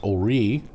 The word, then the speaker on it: Horry: coastal areas of Carolina if you go to Horry Horr y pronounced Orry because it was French Huguenot today your your you